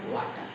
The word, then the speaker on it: water: No water or water. It is water. Water. Again, R is silent there. Water.